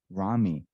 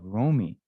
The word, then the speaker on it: Rami: for a long time I was pronouncing your name Rami. But then I thought I heard you say Romy. No, I got it right the first time.